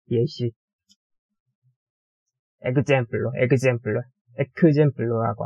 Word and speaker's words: ekzemplo: 뭐 예를 들어 example로 예 예시 example로 example로 example로라고 안 하고 example로라고 합니다.